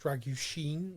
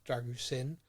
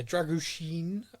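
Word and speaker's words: Drăgușin: player crazy and ASU dragen his name is pronounced druin not dragusin like I've been saying I I just call him Radu because I find that's easier yeah druen um he is Young 21 years old um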